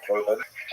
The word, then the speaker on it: korban: Several other terms are in some usage among Orthodox Jews, particularly generation, they tend to use the Hebrew term korban, which we pronounce the Ashkenazi pronunciation korban, which ties the Holocaust